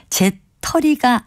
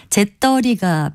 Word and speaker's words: 재떨이: 단백질을 받는 그릇을 가리키는 바른 단어는 제 털이가 아니고요 재떨이라고 된 소리로 표기하고 발음합니다 다시 말씀드리면 재떨이가 표준어고요 재털이는 표준어가 아닙니다 바른말 고운 말 아나운서